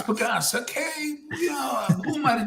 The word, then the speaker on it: Pages: It says Pages on his back. Pagas, yes. But it's Pagas.